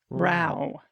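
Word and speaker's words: row: or viewer wrote dude Roe is a British term it rhymes with how not snow it's a short o I've heard it mispronounced several times it's making my ears burn so it's Rao to which another person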